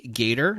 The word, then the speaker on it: Gaiter: We have Tony Gator. That's spelled Gaiter.